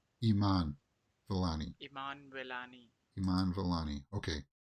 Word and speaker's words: Iman Vellani: I like it when they show real-life examples, not just the computerized version of, this is how you pronounce this name. Iman Vellani. Iman Vellani.